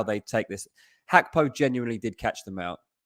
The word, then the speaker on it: Gakpo: Is it pronounced Gakpo, not Gakpo? Yeah. Oh, we learned something. It's Gakpo.